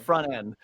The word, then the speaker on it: front end: And like I would say, like, if you ask me, do I pronounce the T in that? I would say, of course I do. Yeah, But I don't, and nobody does.